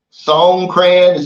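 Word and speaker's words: Songkran: some videos he's over there now for that song crayon that's how you pronounce it Festival in Thailand man and he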